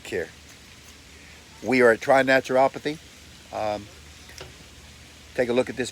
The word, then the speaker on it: naturopathy: Naturopathy? Naturopathy.